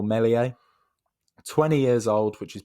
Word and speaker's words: Meslier: that is ilan meslier my french pronunciation is not perfect but his name is something like meslier or melies 20 years old which